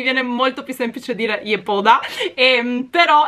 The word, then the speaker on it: Yepoda: moda che ho scoperto in coreano in realtà si pronuncia gli eco da circa comunque questa sarebbe la pronuncia corretta mi viene molto più semplice dire i pod ha però è uscito ragazzi